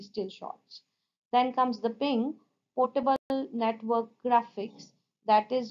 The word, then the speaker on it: PNG: like BMP gif JPEG ping and TIFF the JPEG jpg and PNG that is ping formats are more common jape